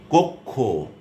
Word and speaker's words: কক্ষ: এবারে আসুন শেষে বা মধ্যে যদি বসে, শেষে বসলে যেমন বক্ষ, কক্ষ, ক খ এর মতো উচ্চারণ হচ্ছে ক্ষীয়টা।